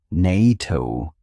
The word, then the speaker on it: NATO: NATO is pronounced as a word. Nito starting with a consonant sound. So a is used.